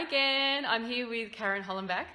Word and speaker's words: Hollenbach: So hi again, I'm here with Karen Hollenbach. That is the right pronunciation, yep. isn't it? Or Hollenbach, technically, but I say Hollenbach, so that's fine.